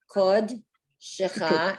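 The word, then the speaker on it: קדשך: Okay, so it's kod, and that would be a Kod. silent schwa. That's the end of the syllable. Kod, shecha, and you see that funny looking like little T, that's because that's off.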